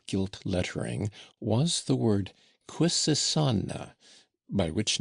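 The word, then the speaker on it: Quisisana: lettering was the word quissana by which name the retired little dwelling was known throughout the town where they pronounced it with a very soft s and a very broad a.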